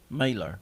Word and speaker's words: Maylar: guest today is Don other than uh Steve maylard I believe it is how do you pronounce Steve mailer mailer okay so tell us something about you Steve